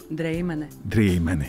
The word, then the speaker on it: Дрейманы: Итак, Рита Дрейманы. Правильно так произносится фамилия? Можно и так. Добрый вечер. Добрый. А как нужно? Дрейманы. Да, Дрейманы. Хорошо, красиво.